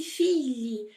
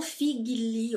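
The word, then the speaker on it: figlio: do gnl em italiano GL em italiano vai ter o som do nosso LH tá então por isso eu disse filho filho e não fi Guinle o Figure tá é filho e filho tá bom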